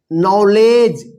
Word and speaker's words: knowledge: चलिए यहां पे देखिए KNOWLEDGE, इसको क्या पढ़ेंगे, नॉलेज। नॉलेज नहीं पढ़िएगा। देखिए यहां पे पिछले क्लास में बताए थे कि डी और जी एक साथ लिखा रहेगा तो यहां पे क्या होगा, डी जो है ना साइलेंट लेटर रहेगा। यहां पे डी भी क्या है, साइलेंट है, और इसमें के साइलेंट है, ठीक है ना।